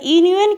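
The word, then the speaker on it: union: तो यूनियन क्या है? यू इज़ the vial but यू यूनियन का प्रोनाउंसिएशन क्या हो रहा है? कॉन्सोनेंट साउंड हो रहा है, इसीलिए हम लोग यहाँ पर ए का यूज़ करते हैं।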